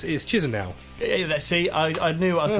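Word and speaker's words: Chișinău: I can't pronounce it. Well, that's pretty good. It's Chisinau.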